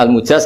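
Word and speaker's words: المُجاز: sanad itu untuk al-mujaz, bacanya al-mujaz karena dari fi'il madhi ajazah.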